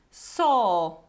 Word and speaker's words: saw: And the proper pronunciation is law, saw, Warsaw. So you see, the trick here is that we don't pronounce this w at the end.